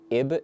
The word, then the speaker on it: Ib: Okay, so Queen Snarf suggested one from Ib and then one from Arms.